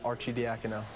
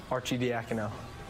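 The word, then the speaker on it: Arcidiacono: Marv, this is how you pronounce my name. Ryan Archie Diao. Ryan what? Archie Diao.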